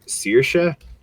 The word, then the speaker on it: Saoirse: the actresses name Saoirse I only know how to pronounce that because of jacksepticeye and I know it's a very Irish name and because being Irish it looks nothing like it appears right it looks like salaries seriously author is Louisa